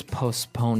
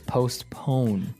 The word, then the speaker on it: postpone: So that's the way they use postpone. Now it's it's interesting because you have a P in between there. So it's postpone.